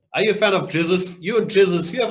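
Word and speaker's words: Gzuz: Jizzes. G-Z-U-Z is how it's spelled. Well, how it's pronounced. G-Z-U-Z. Jizzes. Standard.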